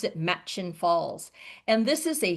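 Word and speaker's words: Murchison: Um if you look at this, it looks like it might be pronounced Merchesen. Okay, but they'll you'll hear all of the locals pronounce it Matchin Falls.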